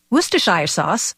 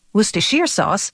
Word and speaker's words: Worcestershire: of a tongue twister Worcestershire sauce Worcestershire sauce Worcestershire sauce all those pronunciations are acceptable as are the endless